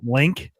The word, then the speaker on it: Link: by the way, GameBird, it's pronounced Link. It's not like No, it's not Lunk.